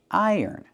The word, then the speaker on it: iron: So you hear I yearn, iron. Put the stress on the first syllable. Iron. Not iron, but iron.